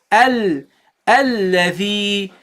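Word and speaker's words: الذي: So this is a Hamza. So you pronounce this as a. Okay? And you go and you attach it to the dhal. So you say al. Okay, you see, do you hear this? Alladhi. This is the Hamza sound.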